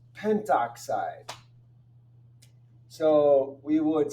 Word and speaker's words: pentoxide: So it's not pentaoxide, it's just pentoxide.